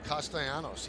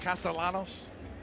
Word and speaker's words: Castellanos: away right side so we've been pronouncing his name wrong for about two three years now it is castanos yes not castalanos he's made it a